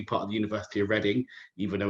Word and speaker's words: Reading: We're named after the town, Reading. And so many people pronounce it as Reading, but it's actually Reading.